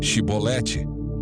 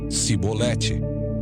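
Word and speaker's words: shibboleth: Se o homem negasse, eles o mandavam dizer Shibolete. Se ele era de Efraim, dizia Sibolete, pois o povo de Efraim não consegue pronunciar essa palavra corretamente.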